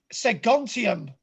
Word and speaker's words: Segontium: Segontium. How do you spell that?